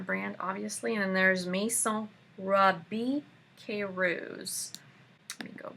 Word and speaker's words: Maison: So the next series of brands, they all start with Maison, or in some other pronunciations, Mason. But just know that it's French for Maison. Maison.